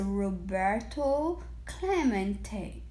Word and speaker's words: Roberto Clemente: His first time at bat, he heard the announcer stumble through his Spanish name, Robert, Clement. It echoed in the near empty stands. Roberto Clement was his name, and this is pronounced Roberto Clemente.